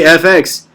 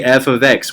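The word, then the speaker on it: f(x): loud in the classroom if you just say fx it's you're going to say like that and i'm telling you you're saying it wrong and you're going to sound dumb to the people that know how to read it so please in your mind say f of x whenever you read that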